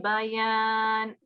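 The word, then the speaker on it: البيان: on the ya, so it will be ba ya. So two separate letters. I'll recite this verse for you, and then you can recite after me. Allamahul bayan. Allamahul bayan. Yeah, so try not to combine bayan. Yeah, don't go over the ya. It's two different letters. Bayan.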